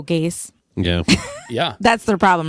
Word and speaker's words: Gase: They should give up on something that rhymes with Chase. Oh, Gase.